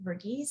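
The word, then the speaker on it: Verghese: cutting for stone by abraham i think virgies is how it's pronounced and it's a novel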